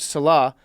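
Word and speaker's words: Saleh: the last name billy are you sure it's celeb okay i'm gonna trust billy on this one as our jets expert robert salah and his seven kids and his wife and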